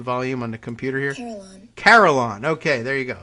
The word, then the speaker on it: carillon: on the computer here caroline okay there you go so like caroline but but you know bells and uh oops now